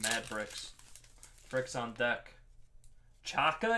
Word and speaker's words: Xhaka: z so i'm thinking xhaka switzerland greg a you want the bricks bricks are yours we have mad bricks bricks on deck chaka it's pronounced that's not a z really chaka julian baumgartlinger what